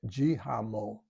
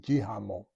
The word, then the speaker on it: Hsienmo: It's HSIENMO, and it's pronounced Jihamo. That's my best pronunciation. Jihamo.